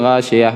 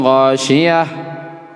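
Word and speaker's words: الغاشية: Jadi jangan baca hal ataka haditsul ghashiyah wujuhu. Itu tidak bacanya. Harus jelas. Hal ataka haditsul ghashiyah. Kau bagi awak yang biasa membaca Quran, biasakan seperti itu. Hal ataka haditsul ghashiyah. Katanya. Jangan ujungnya lembut.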